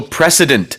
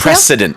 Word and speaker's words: precedent: 여기서는 강한 s 발음이 들어가야 됩니다.